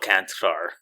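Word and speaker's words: Čančar: let them vlot vatco it's vatco canar he's Slovenian so C andc and he has like a little upside down triangle over both the Seas if you know what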